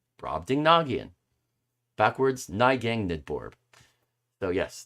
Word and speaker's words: Brobdingnagian: how to pronounce it do i need to go through it again okay uh rob ding nagian brobdingnagian brobdingnagian brobdingnagian backwards nygang nidbourb so